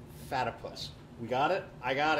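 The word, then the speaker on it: Fatypus: It's Fatipus, rhymes with platypus. Not Fatty Puss, Fatipus.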